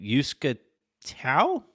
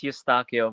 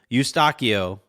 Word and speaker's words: Eustachio: Yuska Tiao? Tiao? It's Eustachio, but it's fine. All right, no, it's not fine. I gotta get that right. Eustachio.